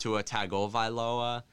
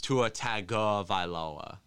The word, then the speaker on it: Tua Tagovailoa: It's not pronounced Tua Tagovailoa. It's Tua Tagovailoa.